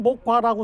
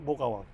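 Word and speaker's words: 모과: 그래서 우리가 한자 한물을 쓸 때는 목과라고 쓰지만 우리는 보통 그걸 어 읽을 때는 모가라고 읽어야 돼요. 모가와 모가라고 읽어서 어 여기 모가나무는 우리나라에서 가장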